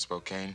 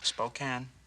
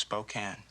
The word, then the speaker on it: Spokane: Well, let me tell you, if I'd have been from uh 50 mi outside of Spokane, Spokane, it's pronounced Spokane.